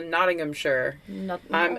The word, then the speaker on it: Nottinghamshire: need Nottingham shingham Shire that's too sh is really too they kind of shorten it to like sure but yeah they Lincoln sure so the Nottingham sure somebody correct me no